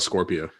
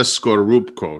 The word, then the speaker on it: Scorupco: Like Isabella, I want to pronounce her name right, Skorupko. Natalia, just call her Isabella Scorpio. So that's not correct. I think it's Isabella Scorupco, right?